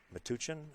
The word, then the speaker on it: Metuchen: His opponent, Scott Evans, is from New Jersey, Metuchen, I believe is how you pronounce it, and he plays out of Ed Ladaw's room, Sandcastle Billiards.